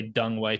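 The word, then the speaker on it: Deng Wei: I did, however, say Dung Wei today because I remembered my conversation in 2019, and you're like, dude, you know, like ENG is UNG.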